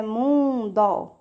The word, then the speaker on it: mundo: A mesma coisa acontece com o mundo, que no caso é mundo, né? É escrito com O, mas nós pronunciamos como se fosse letra U, tá?